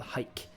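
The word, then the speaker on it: Hyk: Another favorite of mine in downtown Estes Park was a store called Hike. That's hike like you would go on a hike, but it's spelled with a Y and no E.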